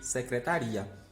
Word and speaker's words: secretaria: Aqui a gente tem 4 sílabas, aqui a gente tem 5 sílabas. Em A, a gente tem a sílaba mais forte, tá. Em B, a gente tem a sílaba mais forte, ri.